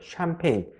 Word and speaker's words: 샴페인: 하기도 훨씬 수월하실 거예요 자 화면에 알파벳을 보시면 알파벳 chan 이게 샴 샴 이렇게 발음이 되고요 알파벳 pagne가 폐인 폐인 이렇게 발음이 되는데요 자 pagne를 영업 발음 규칙대로 읽으면 파 그 이상하게 발음되어 이렇게 영어 발음 규칙대로 발음을 했는데 이상하게 발음되면 그대로 그대로 외워 주시는 거예요 이것을 영어 발음 규칙대로 읽으시면 안 돼요 폐인 pagne은 폐인 폐 이렇게 발음 되는구나 이렇게 외워주시는 수밖에 없어요 그래서 샴페인 이렇게 편하게 발음해 주시면 되죠 자 그러면 여기서 참고로